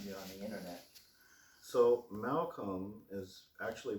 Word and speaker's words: Malcolm: Just like the name Abraham Lincoln's last name, there's a silent L in Lincoln, and there's a silent L hiding in your name too, Malcolm.